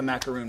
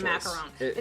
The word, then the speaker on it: macaron: Now, it's macaron. And I'm saying it wrong. Macaroons are actually the cookies that are made from the coconut. So Disney blog actually has a wonderful little cheat sheet on that, so you can know how to pronounce them, because one has 1 O and one has 2 O's.